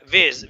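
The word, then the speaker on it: vase: Painting photo frame वेज। वेज माने गुलदान। गुलदस्ता। उसको क्या बोलते हैं? वेज। इसका दो प्रोनाउंसिशन है। अमेरिकन और ब्रिटिश। एक में वाज बोलते हैं और एक में वज बोलते हैं।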